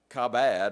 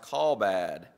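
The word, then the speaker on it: כָּבֵד: It looks like kabad or something like that, but I'm told it's pronounced kalbad. I've told you before, I don't know a whole lot about Hebrew, but that's what I'm told is the pronunciation, something like kalbad.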